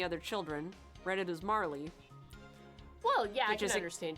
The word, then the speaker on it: Marle: now it's like the marl and Marley argument from chrono trigger everybody's like is her name aural or Marley Marl it's spelled ma RL e that's tomorrow yes but